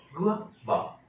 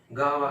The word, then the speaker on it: guava: असली प्रोनाउंसिएशन है गुआवा, गुआवा, गुआ, गावा, ऐसे सब बोलते हैं, सब गलत है।